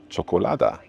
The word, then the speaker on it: čokolada: And this one is pronounced as ch as in very importantly cholada.